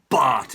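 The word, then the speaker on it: Batth: he's bought him danny it says bath but it's pronounced bart it's pronounced bart danny bart now for me danny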